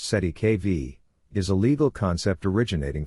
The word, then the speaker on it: cestui que vie: within this complex system the term cestu KV pronounced SE KV is a legal concept